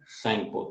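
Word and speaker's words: Tsangpo: in Tibet it is known as सैंगपो, तो इसमें T silent है, तो इस रिवर को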